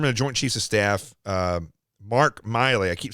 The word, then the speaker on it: Milley: Chiefs of Staff, Mark Milley. I keep saying him, calling him Mike, but it's Mike Milley is how you say it.